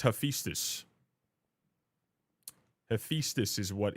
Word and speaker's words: Hephaestus: It's Hephaestus. Hephaestus is what it's pronounced like, roughly.